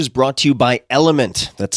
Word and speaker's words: LMNT: this episode is brought to you by element that's spelled lmnt what is element it's a delicious